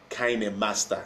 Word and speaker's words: KineMaster: When it's a KineMaster, it's pronounced KineMaster.